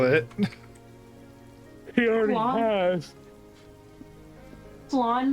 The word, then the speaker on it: Flawn: Flan like that Mexican dessert, like I think that's called flan. It is it is flan.